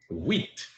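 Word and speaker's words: huit: Wheat.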